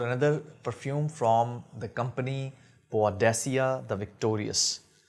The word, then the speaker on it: Boadicea: perfume from the company badia the Victorious badia the Victorious so this is the actual pronunciation um so this is